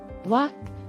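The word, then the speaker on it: walk: ಪಿ ಉಚ್ಚಾರಣೆಯಾಗದ ಅಕ್ಷರ ಸಂಸ್ ವಾಕ್ ನಡಿಗೆ silent letter L ಈ ಪದದ ಉಚ್ಚಾರಣೆ ವಾಕ್ ಇದು ಇಂಗ್ಲಿಷ್ನಲ್ಲಿ ಸೈಲೆಂಟ್ ಲೆಟರ್ಸ್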